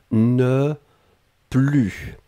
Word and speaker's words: ne plus: ne et ensuite plus et là on ne prononce pas le s ne plus d'accord je n'en avais